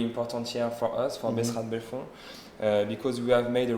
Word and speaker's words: Besserat de Bellefon: Besserat de Bellefon.